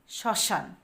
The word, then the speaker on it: শ্মশান: দিয়ে বাতাস বের হয় যেমন শ্মশান শ্মশান এখানে আমরা দেখি স এর সাথে কি হচ্ছে কি বসছে ম ফলা ম ফলা বসেছে কিন্তু ম এর উচ্চারণ আসছে আসেনি যখন আমরা উচ্চারণ করেছি তখন শ্মশান মানে শ্মশান এই স এর উপর কিন্তু ঝোকটা পড়ছে আর নাক দিয়ে বাতাস বের হয়েছে যেটাকে আমরা চন্দ্রবিন্দু দিয়ে